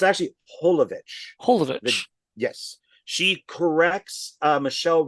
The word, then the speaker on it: Jovovich: mispronounced my last name it's Mila holovich so I guess in America it's drollovich but in over like in Europe and stuff it's holovich the J is pronounced but that's how she